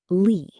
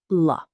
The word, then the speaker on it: la: Mistake number three Using English pronunciation Many learners pronounce la like lee. That's incorrect. The correct pronunciation is la a relaxed sound not lee.